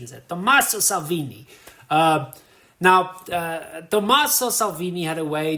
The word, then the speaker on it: Tommaso Salvini: I was in Rome for like a week, so I think my pronunciation is Tommaso Salvini.